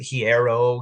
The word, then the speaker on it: Hiero: Hero's journey, so it should be pronounced hero, but I know some people pronounce it hierero because that can't be hero.